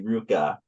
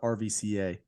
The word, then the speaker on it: RVCA: the Opposites and that but it's really Ruka so yeah it took me a while to learn about that actually I always call it RVCA and then um I for those listening they were a client of my Billabong and Ruka were a client of mine and so that's when I found out like oh it's Ruka cheese yeah you go into